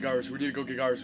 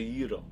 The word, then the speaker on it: gyros: need to go get gyros. We need to go get gyros. We need to go get gyros." even pronouncing it gyro. It's a yee-ro.